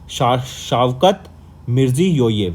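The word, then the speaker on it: Shavkat Mirziyoyev: थोड़ी सी प्रोनाउंसिएशन इसको देख लेंगे, शावकत मिर्जियोयेव, राइट।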